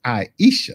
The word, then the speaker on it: Ayesha: You are in a good number of folks who want to throw an L in. It's Ayesha.